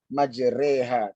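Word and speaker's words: مجراها: ya majroha Hai YouTubers majroha ini kita membacanya majreha tidak antara tidak di kota hat maupun jadi kasrah Tetapi kalau kita baca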